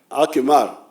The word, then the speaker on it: akimar: How do you say IMAR in Karimajong? Akimar.